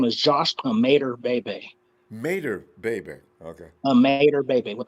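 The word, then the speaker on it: Imatorbhebhe: really his name is josh made her baby mater baby okay a mater baby with the eye a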